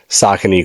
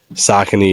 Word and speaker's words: Saucony: named this this episode so far right now, Saucony Cool Guys, right? Mm-hmm. And the joke behind that is because on TikTok, I was always talking about Saucony and just like Saucony is like on fire.